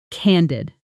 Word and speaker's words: candid: Pronunciation. Canid. Candid. Notice the short a sound like in can.